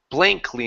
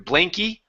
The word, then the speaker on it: blankly: this word is blankly make sure to pronounce this y or sorry the L blankly instead of blanky blankly blankly there you